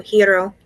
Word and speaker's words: gyro: Yeah, that's how we pronounced it also. Hero.